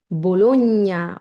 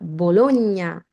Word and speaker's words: Bologna: অনেকেই বলবেন বোলোনিয়া, বোলোনিয়া, এমনকি বলেন আমি বোলোনিয়া শহরে থাকি, এটার উচ্চারণ হচ্ছে বোলোনিয়া, বোলোনিয়া।